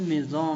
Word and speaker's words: maison: حرف الاس ينطق زد إذا وقع بين حرفين متحركين، والحروف المتحركة هي A, E, I, O, U, Y. L'exemple, maison, منزل, grise, رمادي, chemise, قميص, paysage, mandat.